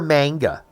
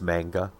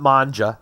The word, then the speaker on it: manga: like mang manga yeah I'm pretty sure it's a hard G not a soft G I think it's manga whatever but a new